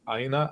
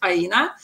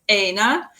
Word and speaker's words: Aina: actually funny because, like, normally, like Europeans or like African descent people, they get it correctly even without me pronouncing it, Aina. But in North America, they see A as like and they call me Aina.